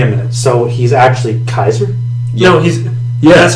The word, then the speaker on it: Caesar: game Assassin's Creed over him there is Julius Caesar what they don't pronounce the Kaiser what they say Caesars no they just say